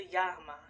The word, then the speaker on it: Yamaha: I pronounced it a Yamaha, and my parents corrected me. Let me go check. Hold on, y'all. All right, y'all, I'm back. It is right. It's a Yamaha, so I got it right.